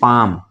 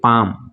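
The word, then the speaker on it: palm: गया इसको पढ़ेंगे कमली इसको पढ़ेंगे पम इसको क्या पढ़ेंगे पैम पैम मतलब हथेली पाम पैम ठीक है ना इसको क्या पढ़ेंगे पैम साइलेंट हो जाएगा तो इसको पढ़ेंगे पैम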